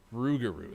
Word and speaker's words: Rougarou: I got a Rougarou. Rougarou is how you say that one.